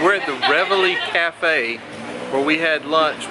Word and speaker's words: Reveille: You pronounce it... Reveille. We're at the Reveille Cafe where we had lunch with them.